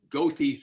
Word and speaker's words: Goethe: Goethe State Forest, not pronounced as the Germans would pronounce it, but that's how they pronounce it in Florida.